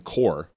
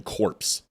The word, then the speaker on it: corps: You may say Marine Corps. It's not Marine Corps. A corpse is CORPSE. So the pronunciation of corps is always that way.